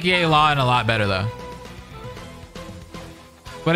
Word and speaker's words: Yelan: Yelan, that's how you say her name.